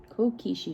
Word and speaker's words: kokeshi: started calling them cake okay cool cool Kishi kokeshi dolls miss Crystal's pronunciation is not the best but you know